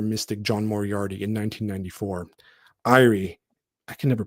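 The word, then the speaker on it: Éire: Irie, I can never pronounce that, guys. Irie, as in Erie. Ireland.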